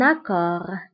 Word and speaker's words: accord: فهنا أيضا accord كنكتبوها بالدف آخر الكلمة ولكنها لا تنطق un accord accord هو اتفاق الآن